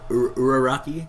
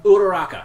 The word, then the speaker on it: Uraraka: Uraraki? Uraraka, that was it.